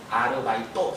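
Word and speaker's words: アルバイト: 의사, 변호사, 맨 밑에 아르바이토, 걔들 발음이 안 되니까 아르바이토라고 했어요.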